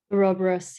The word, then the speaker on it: Ouroboros: The right pronounce? Ouroboros, yeah.